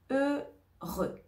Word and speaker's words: heureux: e le h on ne l'entend pas et le son re re donc c'est le même son le E le E mais on va dans la deuxième partie rajouter le r donc e re eu re he reux la langue est au milieu heureux heureux heureux par